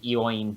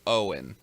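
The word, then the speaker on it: Eoin: you pronounce his name Owen yes I always pronounce the e Wayne yeah that's how most people always pronounce it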